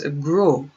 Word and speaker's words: gros: So, gros. Fat is gros, gros, or gross. Fat is gros, gros, or gross. Gross. Not gras, not gross. Gros, gross. The S isn't pronounced. Gros.